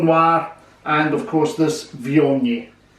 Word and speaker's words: Viognier: It's called Viognier, spelled V-I-O-G-N-I-E-R, but pronounced Viognier.